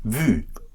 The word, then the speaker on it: vu: You dive into a very short U, a very short U, usually just a one syllable. For instance, voir for seen would be vu, yes?